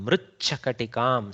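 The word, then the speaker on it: मृच्छकटिकम्: Mritchakatikam. See, little tough to pronounce there. Mritchakatikam. Ch. Okay. Actually, originally it is mrit, which becomes mrid and then becomes mrich after a couple of transformations.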